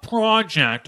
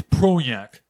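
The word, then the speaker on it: Projekt: if we that's not it's not project okay it's pro yak lady make sure you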